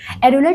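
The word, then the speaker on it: areolar: एरुलर tissue जो होता है, एज द नेम सजेस्ट, थोड़ा सा एरी साउंड कर रहा है ना, वैसे ही ये लोग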